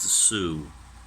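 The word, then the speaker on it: Sault: It's called the Soo line because one of the cities it serves is spelled S-A-U-L-T, but it's French, so it's pronounced Soo.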